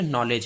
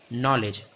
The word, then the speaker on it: knowledge: यहाँ पे के साइलेंट रहता है, के क्या रहता है, साइलेंट रहता है। इसे कई लोग नॉलेज पढ़ते हैं, कई लोग कुछ पढ़ते हैं। मैं बता दूं ये नॉलेज है। क्या है, नॉलेज है, और इसे नॉलेज ही उच्चारण करिएगा।